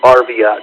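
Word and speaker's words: Arviat: I mean, they used to, you know, I worked in a place called Viet, although most people would pronounce it Arvat.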